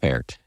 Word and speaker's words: Pferdt: Frederik Pferdt. Did I pronounce that correctly? Absolutely. Welcome to the show. Thanks for having me, Dan. Pferdt. And I do pronounce the P, right? You do, yes.